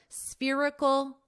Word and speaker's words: spherical: A $2.3 billion massive spherical venue. All right, so you already know how to pronounce sphere. Now you'll just add ical, spherical. And then you have to add the syllable stress, spherical, irical.